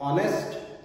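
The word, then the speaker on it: honest: Silent H, ओ से पहले कभी भी जब हम एच देखते हैं इट मींस कि हमें एच को नहीं पढ़ना है। हमें कहां से शुरुआत करनी है? ओ से, लाइक ऑनेस्ट, ऑनर और ऑनरेबल।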